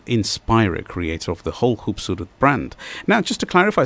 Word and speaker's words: Khubsoorat: Please do spell it. So it is basically Khub, which is KHUBSOORAT collection by Mani Kohli.